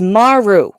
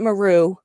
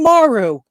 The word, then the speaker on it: Maru: hearing it this way it is maru it has always been maru and everybody says it meru including everybody in freaking star trek two the wrath of khan except for the guy saying this is the kobayashi maru so i'm just just it's a japanese phrase and you always put the emphasis on the first syllable of every japanese word there are no exceptions